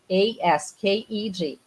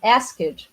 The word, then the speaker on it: asked: How do you say? A lot of questions here, people. So if you say asked, for example, it's because of the interference from Portuguese.